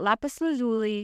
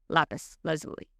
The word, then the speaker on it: Lapis Lazuli: This has been pronounced in many ways, Lapis Lazuli, Lapis Lazuli, etc., all of which accounts report that Lapis Lazuli is the most prominent and most accepted.